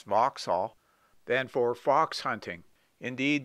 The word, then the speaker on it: Vauxhall: fitted for crimone or foxhall as they used to pronounce vauxhall then for fox hunting